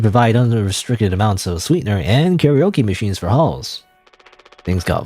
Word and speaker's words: karaoke: But you know, karaoke, karaoke. You know, you're supposed to pronounce it in Japanese.